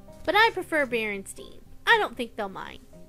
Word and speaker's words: Berenstain: you like that story I grew up reading Berenstein Bears books but did you know it's actually pronounced Berenstain but I prefer Berenstein I don't think they'll mind thanks for watching